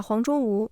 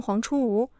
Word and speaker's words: 黄拙吾: 还是不同，所以把黄卓吾念成黄出吴，凭的只有一条，听起来差不多就算。